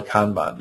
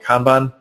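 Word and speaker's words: kanban: this is similar to what's called a kban I've heard it pronounced Canan also um but I always call it kban um but the uh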